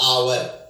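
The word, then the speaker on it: hour: क्योंकि आवर को बोलते हैं आवर, इसमें एच साइलेंट है।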